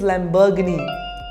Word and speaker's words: Lamborghini: do you pronounce it Lamborghini the correct pronunciation is Lamborghini repeat after me Lamborghini